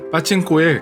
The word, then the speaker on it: 파칭코: 대한 이야기를 들려드리겠습니다 참고로 국어 표기법 쌍 파칭코 이지만 실제 발음은 타칭 꼬나 바친 고엘 가깝습니다 파칭코 의 기원은 월